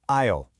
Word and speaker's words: aisle: The S in aisle is totally silent. You say it like aisle.